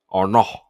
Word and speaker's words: Arnault: Arnault. Cuz you don't pronounce the T, right?